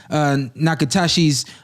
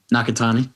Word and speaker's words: Nakatani: Verdejo was slipping outside of Nakatashi's jab. Nakatani. You got it. And then coming over the top with the right hand. I mean, that's classic right there. And connecting it and drop Nakatani twice, and then Nakatani.